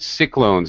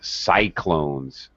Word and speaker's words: cyclones: Also, and another note for you especially, I noticed that you have a reluctance to pronounce vowels in the long form. For example, you said cyclones and tidal waves, but it's cyclones and tidal waves. Okay. Especially where you see usually a Y used as a vowel, typhoons and cyclones. It's usually a long I sound.